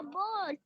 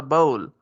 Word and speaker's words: bowl: अब जाने ने कहा इट्स अ बोल, ये एक बोल है. शाबाश. बेटा आप टी को साइलेंट किया करो. इट्स अ बाउल.